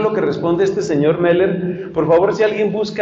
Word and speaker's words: Moeller: Literatura del siglo XX y Cristianismo es Meller, M-O, se pronuncia O-E, algunos lo escriben Moeller, otros escriben O con diéresis, creo que es Charles Meller, pero no me acuerdo. ¿Sí es Charles? Gracias. Charles Meller, y su obra más conocida es, o la